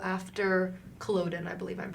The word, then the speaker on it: Culloden: I also wonder, you talked about earlier how after Culloden, I believe I'm pronouncing that correctly.